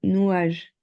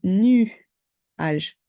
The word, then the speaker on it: nuage: petit peu pas bien toi tu me dis tu dis nage comme ça mais c'est nu âge ah nuâ ok tu